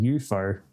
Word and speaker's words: YOUFO: spelled now exactly it's UFO but someone pronounced it to me one day saying EUO and then I'm like I like that because